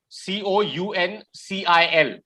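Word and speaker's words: counsel: assembly of people okay council and council okay same pronunciation okay council and council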